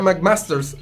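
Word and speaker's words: WMAC Masters: y en inglés es w m hace masters se pronuncia mac masters y era una una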